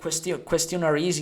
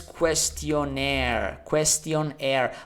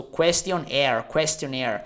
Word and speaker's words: questionnaire: It has nothing to do with air, but it's sort of like, you have to pronounce it like question plus air. So questionnaire.